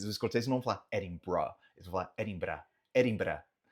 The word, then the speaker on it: Edinburgh: Então eles vão falar Edinburgh, Edinburgh, Edinburgh. Tá? Então eles têm uma questão de sotaque própria dos escoceses. Os escoceses não vão falar Edinburgh, eles vão falar Edinburgh, Edinburgh.